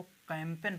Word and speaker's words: campaign: तो ये साइलेंट जी रहेगा, तो इसमें साइन, साइन का मतलब होगा संकेत, CAMPAIGN। तो इसको कैंपेन पढ़ते हैं, कैंपेन नहीं कहेंगे, इसको कहेंगे हम कैंपेन।